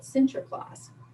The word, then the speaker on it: Sinterklaas: a santa claus and that's how they say it sinterklaas or in english saint